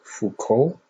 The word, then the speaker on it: Foucault: in the comments below so it's f-o-u-c-a-u-l-t i pronounce it fuco or foucault correct me if i'm wrong so